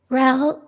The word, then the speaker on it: Ral: Ral, you just mentioned your course. And so I'm looking, Ral is RAL, like pal with an R.